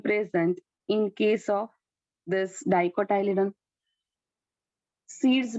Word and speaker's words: dicotyledon: Dicotyledon and monocotyledon. See, आप लोग एक बात, प्रोनाउंसिएशन है ना, क्लियर रखना.